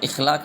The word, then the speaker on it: اخلاق: فرض، اخلاق یا رسم۔ تو درست تلفظ ہے بیٹا اس میں اخلاق، تو اخلاق نہیں بولتے، اس طرح یہ جسم غلط ہے، فرض غلط ہے، فرض ہوتا ہے، اور رسم غلط ہے، رسم ہوتا ہے لفظ۔ تو درست